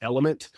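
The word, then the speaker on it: LMNT: now there's another one that's four letters l m NT pronounced element Am a fan of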